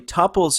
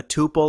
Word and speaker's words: tuple: this is a very generic definition because actually topples exist outside of python in fact my first introduction to this word was this second official general definition where in relational database Theory a tuple or a topple is a single row in